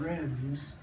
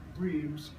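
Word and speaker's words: Reims: r e i Ms it's more something like grass I'm barking grass and it's different from rims but we headed for RS it was in the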